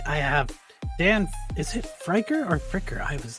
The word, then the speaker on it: Friker: Is it Frier or Fricker? I was like Fricker.